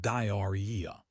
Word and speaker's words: diarrhea: It looks like diarrhea, but we pronounce it diarrhea. Diarrhea, okay, that is actually easier than it looks on paper. The spelling is definitely worse than the sound.